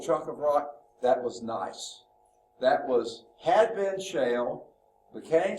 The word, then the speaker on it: gneiss: crystallization, and that forms gneiss. Gneiss rock. No, I'm just kidding. The G is silent, okay?